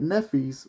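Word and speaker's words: Nephthys: Now, if you watched the first chapter of the minister talking about Nephis, the author says that Nephis, which her name is spelled Nepthys, Nephis was the dark-skinned, this is what the author says, Nephis was the dark-skinned sister of Isis.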